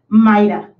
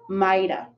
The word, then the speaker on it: might have: is my american pronunciation my american pronunciation is maida when you talk to an american and you hear shita it usually means we're not pronouncing a v sound so you might have